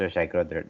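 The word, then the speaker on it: xacro: that's uh that is called shakro It's pronounced shakro that is X uh the thing is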